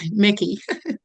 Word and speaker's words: Mickey: right Mikey it's it's uh Mickey Mickey sorry I've been I've